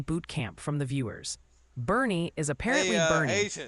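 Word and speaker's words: Boerne: Oh, and quick pronunciation boot camp from the viewers. Bernie is apparently Hey, Bernie, Agent.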